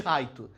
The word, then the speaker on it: Light: Eu chamo o Light de Raito, porque quando eu via, na época dos fansubs crianças, a gente não tinha o nome dele escrito como Light, porque ninguém sabia que era Light.